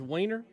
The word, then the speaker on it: Weiner: talking about its representative Anthony and is it liner or Weiner from New York it is spelled it is spelled it is hell yeah it is it is Weiner it is spelled right funny does it look with y'all